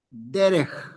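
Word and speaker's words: דֶּרֶךְ: Al final, muy bien, cuando tenemos la Kaf Sofit, por regla ortográfica va a llevar un Sheva, quiciente, un Sheva que no suena. Ortografía. No más. No se pronuncia.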